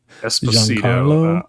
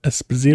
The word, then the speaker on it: Esposito: Um, Esposto. Esposito.